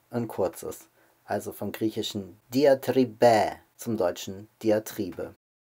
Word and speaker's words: Diatribe: ein deutschen allerdings gesprungen wir sagen auf deutsch die antriebe der akzentum deutschen sitzt also auf dem auf der vorletzten selbe und außerdem ist auch dass hinten ein kurzes also vom griechischen die antriebe zum deutschen die antriebe